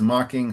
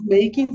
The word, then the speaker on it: mocking: So who is mocking whom? Ismael Ismael. is making Isaac.